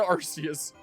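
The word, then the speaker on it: Arceus: I swear to Arus. I'm back to pronouncing that the way that I uh prefer to. Sometimes I keep in the back of my mind that it's supposed to be pronounced Archus, so I correct myself.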